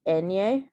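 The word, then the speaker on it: eñe: like in you like the sound like that you hear in the english word onion that's how it is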